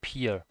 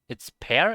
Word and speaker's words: pear: but you can't say peer? Is it not peer? Is it pair? Is it is it not peer? Hmm. I guess it's pear. Is it like this? Pear? Pear fruit compared pronounced like pear.